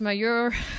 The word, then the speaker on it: majeure: Again, force majeure, whichever way you pronounce it in Latin. How is it pronounced? Any tips? Majeure.